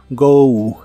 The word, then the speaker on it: go: Go que significa ir la pronunciación termina con una ligera u go go el auxiliar W con